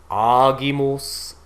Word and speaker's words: agimus: So we see here, I think the biggest thing you'll notice is that all the G's are pronounced G. Gratias agimus tibi. Agimos. So anytime we have the written G, it is going to be this G sound.